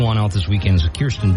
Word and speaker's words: Kirsten: but the new one out this weekend is Kiren D did I say her name right Kirsten yeah yeah right uh she's in Civil War